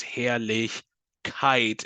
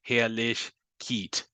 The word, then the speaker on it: Herrlichkeit: E together, the second vowel is what gets the emphasis. That's why this is Herrlichkeit and not Herrlichkeit. Okay.